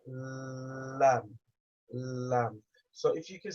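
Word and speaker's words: ل: Those two is where the tongue touches to pronounce the letter lam.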